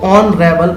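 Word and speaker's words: honourable: तो इसमें क्या करना है, इसमें सबसे पहला लेटर जो एच है इन चारों वर्ड्स का, इसमें साइलेंट रहेगा। तो हम इसको आवर पढ़ेंगे, इसको ऑनेस्ट पढ़ेंगे, इसको ऑनर पढ़ेंगे, इसको ऑनरेबल पढ़ेंगे।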